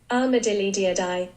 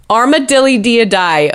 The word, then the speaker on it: Armadillidiidae: Here's how you pronounce what they're technically called. Armadillidiidae. Armadillidiidae.